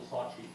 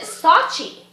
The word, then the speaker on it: Sochi: So you pronounced it Sochi. Sochi is the actual way it's supposed to be pronounced, yeah. Okay, we're doing it wrong here in America already. We're saying Sochi.